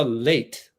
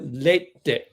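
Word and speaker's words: Leite: But like Carla, it's not Carla late, it's Carla Lee.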